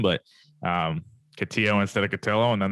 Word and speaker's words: Cotillo: that's that's huge uh you know it's catillo rhymes with pillow it's that's the easiest